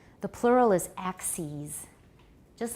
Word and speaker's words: analyses: The plural is axes. Just like basis, the plural is bases. Analysis, the plural is analyses. You replace the I with an E, and you pronounce it ease.